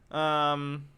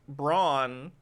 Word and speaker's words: Braun: Brown is the correct way to pronounce Braun. I guess I assumed it was Braun, but whatever.